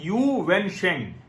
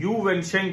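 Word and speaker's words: Yu Wensheng: कुछ और करते हो तो आप लोग प्रोनाउंसिएशन देख लीजिएगा, मैं उसकी स्पेलिंग भी बता दूंगा। मानवाधिकारों के लिए काम करने वाले वकील यू वेनशेंग, YUWENSHENG, यू वेनशेंग को 4 वर्ष के लिए जेल भेज दिया गया।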